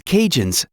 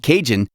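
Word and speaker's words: Cajun: Some of the people in New Orleans are known as cinjun, descendants of the early Aadian settlers. The word kinjun comes from the way they pronounce Acadians.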